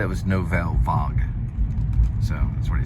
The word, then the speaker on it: Nouvelle Vague: Almost like vlog. I remember it now because I did this before. Nouvelle Vogue, like vlog.